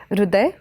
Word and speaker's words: हृदय: मराठी में ह में अंदर जो ऐसे र लिखते हैं जो हृदय में इस्तेमाल होता है जो शब्द उसका उच्चारण ऋ नहीं होता रू होता है तो वो हर जगह जहां पे वो वाला ह र यूज़ होता है उसका उच्चारण मराठी में रू होता है हृदय तो अगर उत्तर भारत